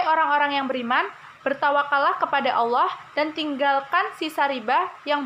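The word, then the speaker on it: الله: keenam itu ada Wah Allah dibaca tafkhim karena lafadz Allah didahului oleh huruf hijaiyah lam berharakat fathah maka dibaca dengan tebal yang ketujuh ada Hai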